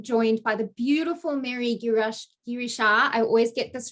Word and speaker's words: Girishaa: Okay, so it's pronounced Girishaa. Girishaa.